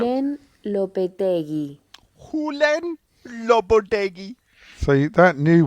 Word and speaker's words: Julen Lopetegui: Julen Lopetegui. Julen Lopetegui. That's how you pronounce. Julen Lopetegui.